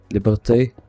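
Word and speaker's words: Liberté: How would you pronounce Liberty in French? Liberte.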